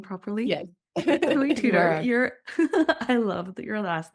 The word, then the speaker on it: Tudor: Chloe, you Chloe Tudtor. Am I pronouncing your last name properly? Yes. Chloe Tutor, you're I love your last name.